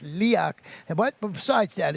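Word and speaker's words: Leoch: If you're an Outlander fan, apparently that's the Castle, and that's how you say it. I thought it was going to be Leo, but it's Leak.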